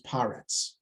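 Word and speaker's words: פָּרֶץ: Well, Paretz grammatically here, because sometimes the 3-dot vowel becomes the T vowel. The segol becomes a kamatz when it's the last word in the line. So otherwise it's pronounced Peretz. Okay, but when it's grammatically speaking, when it's the last word in a sentence for the Torah, it becomes Paretz.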